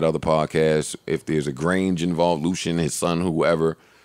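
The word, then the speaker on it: Grainge: Lucian Grange. I thought you were talking about Marshalls. Yeah, And that Lucian rhyme- Grange yeah. definitely sounds Sounds like like a superhero, Yeah. arch villain. And it rhymes with range.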